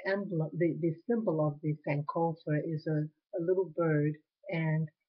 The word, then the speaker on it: Sankofa: It's called Sankofa. It's spelled Sank, is in kite, O, F is in Frank, A, Sankofa. It's a Ghanaian word.